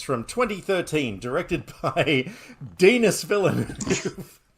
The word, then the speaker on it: Villeneuve: Called Prisoners from 2013, directed by Denis Villeneuve. Say it properly as well. Villeneuve. Okay, Denis Villeneuve. Is that better? Come on, it's spelt like another word, so Denis for those who like don't act like a 5-year-old.